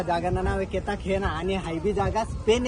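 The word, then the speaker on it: Cartagena: या जागाना नाव आहे केताखेना आणि हायबी जागा स्पेन या देश आहेत केताखेना आणि स्पेलिंग आहे म्हणजे स्पॅनिश भाषा मायमुळे स्पेलिंग अलग आहे आणि उच्चारण अल्लक आहे तर तुम्हाला दिस निश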